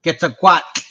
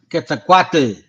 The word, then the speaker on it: Quetzalcoatl: And by the way, I've learned how to say the actual pronunciation. You know, thanks to the brother right here, VTC. By the way, thank you, bro. I do want to say that it's called Nahuatl. Okay, Quetzalcoatl, not Quetzalcoatl. You know what I'm saying?